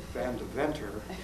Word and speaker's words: Van Deventer: I use the old Dutch Van Deventer pronunciation.